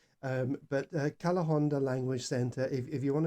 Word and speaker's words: Calahonda: how it's spelt although the spanish don't pronounce the h um but uh cala honda language center if you